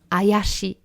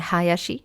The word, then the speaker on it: Hayashi: And instead for other languages, I hear most of the time Ayashi, which is not quite correct because it's changed the sound of the word, and especially because it means in Japanese, Ayashi means without the H.